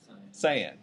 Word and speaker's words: cyan: Yellow and is it pronounced cyan or cyan? Cyan.